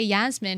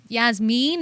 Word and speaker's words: Yasmin: in there I mean we just say Yasmine in England but Yasmine is more Persian pronunciation I'm very happy so